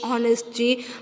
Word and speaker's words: honest: का वापरलेला आहे, कारण व्यंजनाने जरी सुरुवात झाली असेल ऑनेस्टची, पण त्याचा उच्चार आहे, त्याचं प्रोनन्सिएशन आहे तो स्वरासारखा होतो.